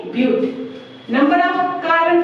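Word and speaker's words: but: ये है बट, अगर हम प्रोनाउंस क्या करेंगे ब्यूट।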